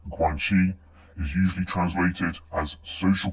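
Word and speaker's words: Guanxi: Guanchi, pronounced Guangshi, is usually translated as social connections or relationships, but these don't tell the whole picture.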